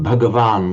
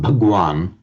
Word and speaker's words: Bhagavan: Many of you may have come across the expression Bhagavan, which in modern Hindi would be pronounced Bhagwan, meaning blessed one.